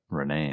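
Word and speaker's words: Renée: Wait up, guys, yelled Renee with an Renee. accent on the last E.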